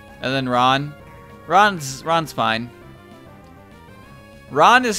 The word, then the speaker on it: Ran: pair you cutting ron ran away but it's like r-a-n-r-a-n ron ron roo when i